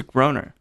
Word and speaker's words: Groner: So my last name's Groner. Okay. Which is a terrible last name. It rhymes with boner.